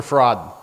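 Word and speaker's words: Farad: He says he's Master Fraud. Master Fraud. They literally say Master Fraud. Okay? They spell it F-A-R-A-D, but they say Master Fraud.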